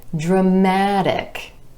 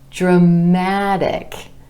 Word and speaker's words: dramatic: We add our IC ending and we get dramatic, dramatic. Our stress shifts to the a vowel sound right before our suffix, dramatic.